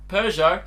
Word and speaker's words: Peugeot: No, but most people go, Peugeot, silent T.